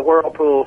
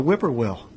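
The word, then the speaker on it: Whippoorwill: title track which is very hard to pronounce whipper whe whipper wheel yeah the lady the other day was so she was uh she was very sincere but she said I am enjoying the whirlpool so much well when we first did the research on the record I was like how do you pronounce this and I said oh it's it's the bird the Whipper will is that is that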